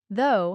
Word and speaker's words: though: learning to pronounce them though has that o sound like in go but through has the oo